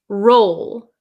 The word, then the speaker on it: roll: So the first one is roll, roll. So it is an O sound. If you look at my lips, roll, roll, okay?